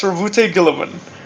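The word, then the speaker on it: Roboute Guilliman: But let's talk about our guy, our boy, Rabute Gilliman. Hey, hey, you know the Gilliman part. I am reading how to pronounce it on the wiki fandom. I see. Yeah, it's Ravute Gilliman.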